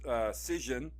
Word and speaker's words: Cision: Then there's Cision, like Precision, I think that's how it's pronounced, Cision.